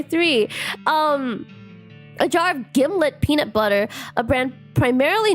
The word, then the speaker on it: Gimlet: Um, a jar of Gimlet peanut butter, a brand primarily noted for arguments about how to pronounce it. Uh, according to the manufacturer, it rhymes with Himlet.